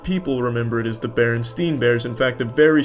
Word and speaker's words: Berenstain: It's always been Berenstain, not Berenstein. Everyone every everyone every They all want to pronounce it, but it's Stain. Ever since I was a kid, they call me, but it's Stain, though."